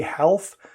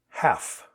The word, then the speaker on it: half: most of us do there's a silent letter here you will hear some people say health not very many and it's it's not standard at least not where i live half half i'll meet you at